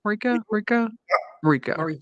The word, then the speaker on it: Mariko: But I think, like you said, I think I'm saying her name wrong again. Mariko, am I saying it right now? Mariko, yeah. Mariko, okay.